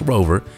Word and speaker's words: RVR: your house the rover spelled rvr but pronounced rover is a battery-powered robot